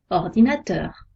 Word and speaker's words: ordinateur: L'accent tonique est placé sur la dernière syllabe des mots. Exemple, un ordinateur. On accentue un peu, teur, ordinateur. Quand la dernière syllabe est